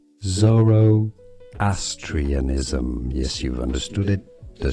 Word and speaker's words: Zoroastrianism: Let's learn how to pronounce this curious name. Zoroastrianism.